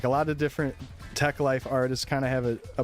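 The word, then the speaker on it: Teklife: Techlife. Uh I think is technically a collective, but it might be also a record label. It's spelled te e k life.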